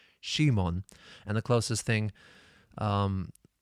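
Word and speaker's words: シモン: his name in Japanese it's technically it's Shimon but it's it's only because the Japanese do not have a character in Japanese for C so the closest they have is she so that's why his name is Shimon not Simon which is possible in Japanese it's not it's not Simon it's Shimon and the closest thing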